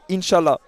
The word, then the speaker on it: inshallah: like the dream okay in arab we say inshallah inshallah it's uh if god wants if god won't it's happen okay so how do you pronounce it inshallah inshallah inshallah inshallah mashallah okay it's good and